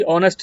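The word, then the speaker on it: honest: वो ए होगा क्योंकि ऑनेस्ट है नहीं रंग है ए चीज आपका रंग है क्योंकि यहां पर हम एच को साउंड नहीं दे रहे हैं हमारा ओ से शुरू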